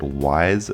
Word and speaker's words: Ys: This is the 8-Bit Beast and welcome to my East TAS demonstration. For those unfamiliar with this series, this is the East series. Some people pronounce it Wise, some people pronounce it East, but it's spelled YS.